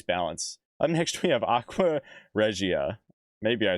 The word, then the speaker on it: Aqua Regia: Aqua Regia.